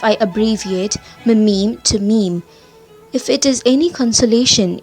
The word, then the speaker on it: meme: the french word meme it should be pronounced to rhyme with cream where there were a